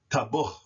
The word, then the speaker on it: tabuch: And that would be pronounced tabuch, tabuch, tabuch, tabuch, which means to cook.